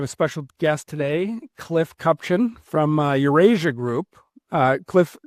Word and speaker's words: Kupchan: We have a special guest today, Cliff Cupchin from Eurasia Group. Uh Cliff, did I get the last name pronunciation right?